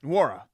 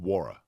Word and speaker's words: Nwora: Is it just Nwora? And N is silent. Nwora.